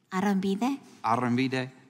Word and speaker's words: Arambide: Arambide. Is that a pretty close approximation of the pronunciation? Arambide.